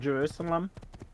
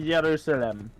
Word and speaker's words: Jerusalem: One thing about this game that does bother me, is I think they use the anglicized version of Jerusalem, when it should be Jerusalem.